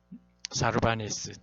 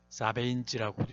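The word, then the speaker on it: Sarbanes: 사르바네스 또는 사베인즈라고도 이야기하는데 발음을 하죠.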